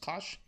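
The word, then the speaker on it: cosh: thing is pronounced cinch and this pronounced Kos so cinch of X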